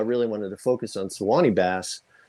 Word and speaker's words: Suwannee: They're called Suwannee bass, or Suwannee. Suwannee. It depends if you're from the South or not. How you say it, but yeah, they're really